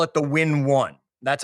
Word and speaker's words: W1N: And the tool, I call it the Win1. That's how I pronounce it all. I spell it W1N. So when you see that in the book, that's how you say W1N. It's Win1.